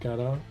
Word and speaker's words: Godot: There's a popular Godot YouTube channel that pronounces it Godot.